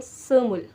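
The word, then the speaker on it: 스물: हम लोग कहते हैं सुमूल सु मूल सु मूल उ यहां पे उ की आवाज आनी है सु मूल सुमूल 20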